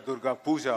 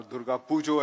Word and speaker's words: Durga Pujo: And as you know, the biggest festival in Calcutta is Durga Puja, or rather Durga Pujo, as they pronounce correctly.